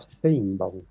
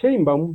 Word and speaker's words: Sheinbaum: Entonces, la pronunciación de Sheinbaum, cuando lo pronuncia un judío askenazi, suena como a Steinbaum. Pero para que nos entendamos bien, es Claudia Sheinbaum Pardo. Así es. ¿Y cómo pronuncian los mexicanos? Igual Sheinbaum, Sheinbaum. Sheinbaum, Sheinbaum, Sheinbaum.